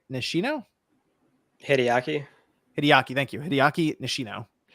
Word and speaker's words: Hideaki: and I I want to make sure I pronounced this correctly I guess well obviously Herman Holst but the other one is hiiki nishino hideaki hideaki thank you hideaki nishino okay so he